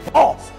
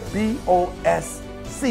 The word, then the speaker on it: BOSC: July, we coming with BOSC. Yeah, B-O-S-C. And you like, E, but you said BOSC. I know, the C is silent, right?